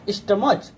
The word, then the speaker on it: stomach: That is not stomach. We will pronounce it stomach. Stomach. Stomach. K pronunciation is there at the end of the word.